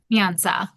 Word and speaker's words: Nyansa: and the more I read about Is it pronounced Nianza? Nianza.